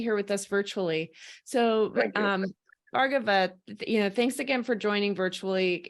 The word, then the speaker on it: Bhargava Gorty: Bhargava. Did I pronounce that right? Please correct me. Yeah, Leah, good morning and good evening to all from Davos. This is Bhargava Gorty.